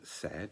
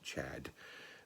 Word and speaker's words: Cedd: it's spelt c-e-d-d but many people think it should be pronounced chad we're putting in a sort of uh an h but who knows uh